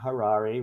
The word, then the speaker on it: Harary: Harary, rhymes with Ferrari.